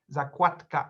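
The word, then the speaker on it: zakładka: uh another word uh a bookmark is pronounced zakwatka and not one more thing we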